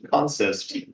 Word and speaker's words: consist: is called a consist a spelled consist pronounced consist don't know why um and that goes